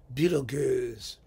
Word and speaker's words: Betelgeuse: And one of you mentioned that the songs that you really wanted to hear was Beetlejuice, which he pronounces Beetlegoose. It's Beetlegoose.